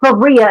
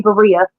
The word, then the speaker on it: birria: made me do a full pronunciation little lesson on saying that because I've been saying it wrong. It's Berea and it's gonna be Berea, but you know. Birria.